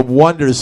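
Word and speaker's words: Oneders: point, but they were called The Wonders, spelled with O-N-E. Right, and he's like, it fucks with everyone's head. It's Yeah, called, yeah. they think it's the Oneaters.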